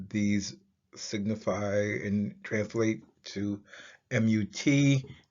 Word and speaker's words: Mut: Together, these signify and translate to MUT, which is pronounced Mut, and it represents motherhood.